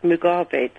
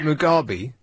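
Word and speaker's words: Mugabe: that um Robert MC you've got his name wrong dear in what sense his name is Robert Mugi it sounds like you just said what I said Robert Robert mugabi mug garbage mug garbage yeah oh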